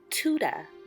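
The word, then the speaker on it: Tudor: about another beautiful style Tuda spell t-u-d-o-r but pronounced Tuda so Tuda houses are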